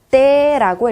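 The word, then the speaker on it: Т: 러시아어로는 어떻게 읽냐면요. 떼라고 읽어주시면 됩니다. 떼. 그리고 발음은 쌍디귿에 가까운 발음이 나게 되고요.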